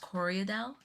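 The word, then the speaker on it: Corriedale: Um is it it's pronounced corodel? Yes. I have Coryell.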